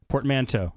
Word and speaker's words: portmanteau: They have a pronunciation on the wiki. Portmanteau. Portmanteau. Portmanteau. I like her voice. Portmanteau is how you say it.